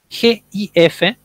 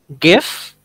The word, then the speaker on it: GIF: Dither, y esta palabra, G-I-F, se pronuncia en inglés de dos maneras. Una puede ser GIF, y otra se puede decir GIF.